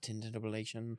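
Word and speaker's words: tintinnabulation: It's pronounced tintinabulation.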